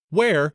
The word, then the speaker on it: where: Pirates could find it where is pronounced to rhyme with bear or hair now the other word